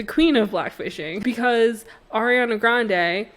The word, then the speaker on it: Grande: of blackfishing, because Ariana Grande, whose last name is actually pronounced Grandi, but she just stopped correcting people, is an Italian white woman.